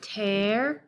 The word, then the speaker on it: terrify: So we have terrify. That one has the middle syllable with the unstressed schwa.